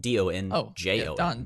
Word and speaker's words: Donjon: Pull up dungeon.bin.sh, and dungeon is spelled D-O-N-J-O-N.